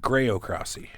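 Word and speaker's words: graocracy: got here how about groc crossy oh Jesus Christ this is so easy spell it g r a o c r a c y c well Cy is uh like democracy by exactly by the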